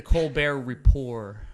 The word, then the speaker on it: Colbert Report: And technically, to be pedantic, it's the Colbert Report. Sorry. Yeah, The it's T report, is silent. just like Colbert.